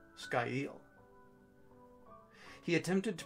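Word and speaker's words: scáil: word foreshadow s-c-a-i-l and hovered over the pronunciation sky eel he attempted to pronounce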